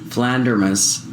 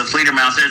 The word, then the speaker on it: Fledermaus: Is there a connection between your song Flandermus and Johanstrust 2 song Die Flandermus? What the hell? What the hell? I would say no. No. It's the Fledermaus.